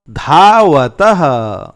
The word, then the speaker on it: धावतः: ध आ धा, व अ व, त अह तह, धावतः।